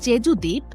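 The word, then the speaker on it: 제주도: দক্ষিণ পশ্চিমাঞ্চলে অবস্থিত স্থিত জেজুদ্বীপ বিশ্বের ভ্রমণ পিপাসু মানুষের কাছে যেন এক স্বর্গরাজ্য পুরো দুনিয়ার সাতটি আশ্চর্যের মধ্যে জেজু দ্বীপ জায়গা করে নিয়েছে 2011 সালে কোরিয়ানরা এই দ্বীপকে উচ্চারণ করে জেজুদো বলে আগ্নেগিরির অগ্নুৎপাতে এই দ্বীপটির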